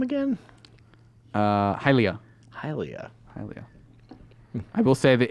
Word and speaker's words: Hylia: name but hated that it might be mistaken and pronounced Helia I said that would never happen as you do not pronounce words like hydrogen as hill region when you were guessing